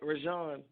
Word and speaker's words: Rejan: that straight first now you said it right rashon I said rosanna rosanna I said it right